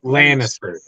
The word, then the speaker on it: Lannister: I think I'm gonna do that Lannister L Lannister yeah Lannister not just I knew something didn't